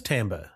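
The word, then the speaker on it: timbre: Oh, it is tambber. Yeah, right. I've been saying that wrong my whole life.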